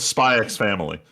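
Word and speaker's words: Spy × Family: You don't pronounce the X.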